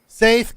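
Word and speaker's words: Saeth: my name is say it again saai if you want to spell it it's s AE t h God damn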